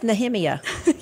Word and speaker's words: Nehemiah: pronounce nothing right anyway we say Nehemiah and it's nemia yes I told somebody